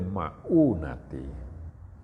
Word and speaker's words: ma'unah: Ya, ini membacanya, tulisannya kalau orang tidak terbiasa bacanya sama, itu ma'unah. Sebenarnya yang pertama, nuzilatul ma'unatu ala qadril ma'unati.